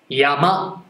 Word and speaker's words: 山: やとまで山と発音します。